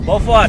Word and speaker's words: Beaufort: Beaufort, tapi ejaannya macam Beaufort. Beaufort. Ah, komen dulu kenapa begitu tu? Kenapa boleh jadi Beaufort? Sedangkan kalau macam saya baca Beaufort.